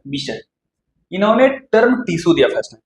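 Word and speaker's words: Bichat: टी ठीक है जिसकी इसके प्रोनाउंसिएशन में टी को साइलेंट रखते हैं लोग miss B आई एस एच मिश टी नहीं टी साइलेंट रहता है मिश इन्होंने टर्म टिश्यू दिया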